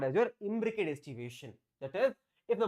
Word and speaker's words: imbricate: trick is very simple imbricate Advocate imbricate imbricate rhymes with Advocate okay so Advocate Advocate